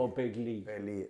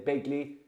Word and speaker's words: O'Begley: like correcting you, but Darrow Kinnaid told me it's like the River Lee. So although it's spelt Leak, it's Lee. So O'Begley. Okay. But make it big, because if they say Begley, they'll hammer you as well.